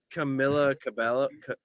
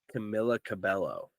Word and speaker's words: Camila Cabello: if you ever in I think it was Camila Cabella I don't know how to say her name uh Camila Cabello that's right I think um I think she